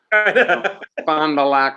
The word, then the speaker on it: Fond du Lac: is and he's from fond du lac bob fonda lock wisconsin i think that's where robert windsor was from remember robert windsor from penn state you got to say it correctly yeah uh anyway he's